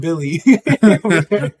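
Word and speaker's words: Willy: you got both something you got Bo and Billy no it's uh yeah no I I this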